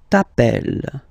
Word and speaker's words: t'appelles: Okay, remember, final S not pronounced. Tu t'appelles. Okay.